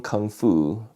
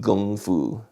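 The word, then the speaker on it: 功夫: he learned Wing Chun Kung Fu which is actually called gongfu if you really want to pronounce it properly in Chinese it is not kung fu it's going food okay so he learned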